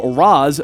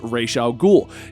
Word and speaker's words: Ra's al Ghul: actual fanboy argument of raz versus rachel ghoul in my personal opinion it doesn't really matter whenever someone says reisha al-ghul or raz al-ghul we all know who you're talking about anyway that's the end